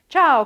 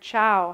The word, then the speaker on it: ciao: in the first example the word ciao has a long vowel and stai at the end is also long vowel but the Americans pronunciation cuts off the vowel sounds you have to be very careful to pronounce the vowels as long or short vowels as